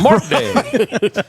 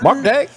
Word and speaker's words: Mark Day: to say my name, I always say, "This is Mark Day." because if I don't I say this Mark Day and they go Martin Day Martin who and I see no it's Mark Mr.